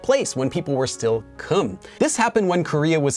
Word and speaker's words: 金: But it was not pronounced in China as Kim. It was pronounced closer to Kim.